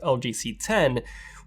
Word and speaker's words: LG CX: Well, LG HQ actually got in touch, and they sent me the brand new LG CX, which is actually pronounced LG C10, which just came out in 2020.